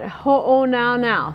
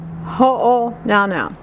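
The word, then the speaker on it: Hōnaunau: And then on the third line, it's the beach at Ho'o Now Now. Think of uh-oh now now, Ho'o Now Now.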